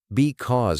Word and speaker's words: because: Because, stress on cause.